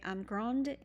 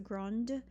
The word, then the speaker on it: grande: You might say grande et mince. Don't forget, instead of grand, not pronouncing that last consonant now, you will, because you add an e to it to make it feminine. So grande et mince.